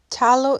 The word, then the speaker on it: Phthalo: Tallow is spelled Phthalo, and it's an abbreviation for a really long name.